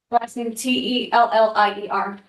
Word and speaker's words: Tellier: Thank you very much. And is that pronounced tellier?